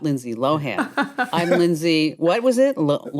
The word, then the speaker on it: Lindsay Lohan: So in this little short series, she came in and she said, oh, it's actually not pronounced Lindsay Lohan. It's pronounced Lindsay Lohan.